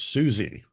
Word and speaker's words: Siouxie: Well, your name is Susie. For those of you who are not watching this, it's spelled Siouxie.